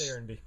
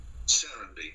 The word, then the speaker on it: Serenbe: You can probably tell me how to pronounce it. Yeah, it's Serenbe. Serenbe, okay.